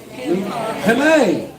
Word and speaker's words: penne: But this here's, I don't even know if I'm pronouncing it right. It's called Pigeon. Penne.